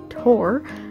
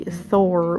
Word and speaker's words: Thor: Yes, by the way, I am pronouncing Tor correctly, although most of us natively English speakers butcher the name and say Thor with a TH sound.